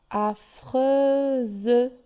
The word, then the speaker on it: affreuse: Affreuse, elle est entre le U et le E, entre 2 voyelles, c'est pour ça qu'elle se prononce Z.